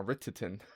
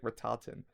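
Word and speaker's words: Rhitahtyn: I know how to say it now. Retitin. I was say like Ratatin Ritin.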